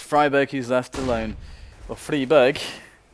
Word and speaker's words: Friberg: also fall, and it's Friberg who's left alone. Or Friberg. Friberg. You're saying it like Friberg. And you know what berg means in Swedish? Oh. It's Friberg. Friberg.